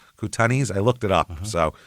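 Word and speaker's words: Kootenais: K O O T E N A I S Koutanis.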